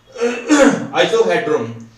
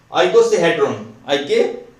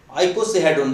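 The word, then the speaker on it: icosahedron: आइसोहेड्रॉन, आइकोसाहेड्रॉन, आइकोसाहेड्रॉन, तो प्रोनाउंसिएशन देख लेना है इसकी।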